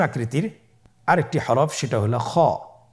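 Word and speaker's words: خ: ছবিতে দেখুন খ হরফটি কীভাবে উচ্চারণ করতে হবে। খ হরফটির মাখরাজ হলো কণ্ঠনালীর শেষ ভাগ হতে উচ্চারণ করতে হয়, কণ্ঠনালীর শেষ ভাগ।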